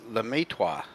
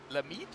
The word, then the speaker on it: Lemaitre: Justin Richter in chat said the way you pronounce his last name is Lemaitre. Lemaitre. Ah, okay. He's Belgian French.